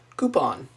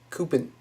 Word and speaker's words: coupon: big legal town lawyer coupon one of the um Blue Collar Comedy tours went over this they did like cpon it's a coupon it's a French word I think something like